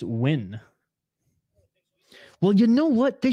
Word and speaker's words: Nguyen: locking it in uh Nguyen is pronounced when well you know what